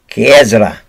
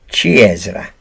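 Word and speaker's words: ciciri: the word is beans the french pronounce it c h with a k kiasra the italians pronounce it chi ezra what they would do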